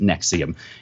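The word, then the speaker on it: NXIVM: alleged sex cult nexium in XIV M pronounced nexium in addition to the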